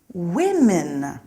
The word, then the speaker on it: women: men woman becomes women look out for that one the pronunciation is a little strange woman women some nouns stay the